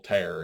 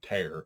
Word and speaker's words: tear: separations had a little tear in it and I said tear not tear even though it's spelled the same way and it left left